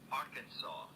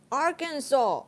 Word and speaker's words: Arkansas: to know the pronunciation wait give me the pronunciation this Arkansas Arkansas oh it's the same okay Arkansas the S